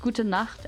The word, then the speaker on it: gut: Uh it's pronounced gut and it means good night.